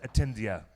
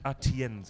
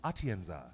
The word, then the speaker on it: Atienza: And her name, this lovely woman, her name is Belen Atendia. I can pronounce her name very badly, but I'll try it one more time. I'm sure we've probably butchered that name. Belen Atienza. It's Atienza.